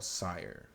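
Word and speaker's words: Psie: this this 16-year-old black kid who I call sire and I spell it PS i e to include both the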